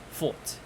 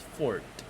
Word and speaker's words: fort: Okay, as for American English, you can see the R and it's pronounced as fort. Fort. Notice how the sound in fort is unmodified. It's not changed in any way. It sounds as is.